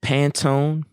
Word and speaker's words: Pantone: is it is it pantone um pantone color institute i i hope i'm pronouncing it right yeah but um it's p-a-n-t-o-n-e out of my hand i imagine tone is in skin tone yeah tone yeah or